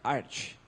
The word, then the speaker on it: Arch: E a pronúncia oficial é Arch, como Archer, de arqueiro, né? Não é Arc ou outra coisa do tipo.